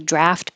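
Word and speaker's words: draught: you go to a restaurant and they say draft beer it looks like this but it's going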